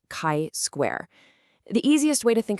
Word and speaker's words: chi square: And yes, it's pronounced chi square.